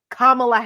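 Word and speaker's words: Kamala: firm handshake and she introduced herself and said kamla Harris so there was no excuse for him if he was gonna mispronounce her name right and it was it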